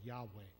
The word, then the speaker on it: Yahweh: me as Jehovah or Yahweh. And one is English transliteration. The other one is the more probable Hebrew pronunciation.